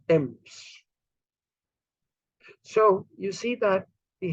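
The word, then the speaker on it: Thames: is the Thief but the river t-h-a-m-e-s then should be famous but it's not it's Temps so you see that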